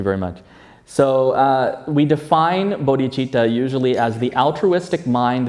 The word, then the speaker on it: Bodhicitta: So wisdom and compassion together, we talk about Bodhicitta. Bodhicitta. Notice this is spelled just a C. There's no CH. This is how we spell it in English, but we pronounce it Bodhicitta.